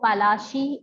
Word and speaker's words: Palashi: Plassey is एन anglicized pronunciation of Palashi, and the place derived